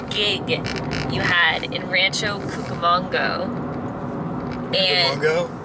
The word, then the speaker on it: Cucamonga: you had in rancho cucamonga and logo how do you say it manga like cucaracha yeah okay so he